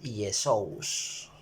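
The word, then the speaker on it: Ἰησοῦς: como la y más o menos y la pronunciación es 10 shows y entonces en la gramática y la o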